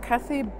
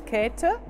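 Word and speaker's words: Käthe: world war caterpillar or kathy buchhler but the german pronunciation is cater she was born in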